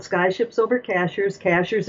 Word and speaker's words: Cashiers: Cashers is spelled like a cashier at the at the grocery store.